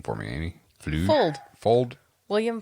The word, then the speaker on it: Fuld: oh I found one it's a vintage William pronounce the last name for me any old Fuld William Fuld yeah I've heard of William post before he